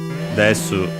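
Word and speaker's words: デス: We have Desu Mountain, of course, Death Mountain from in English with a Japanese pronunciation. Since there isn't a sound th in Japanese, it becomes s, so desu for death, and then mountain, mountain.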